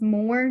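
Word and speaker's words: mór: and then moor comes from that Irish word mo fada r, pronounced more, just the same, meaning big or great.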